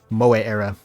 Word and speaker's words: Moe Era: Moe Era. Because now I'm going off like the actual Japanese pronunciation of the word and not just how people kind of describe it in English, which is just Mo.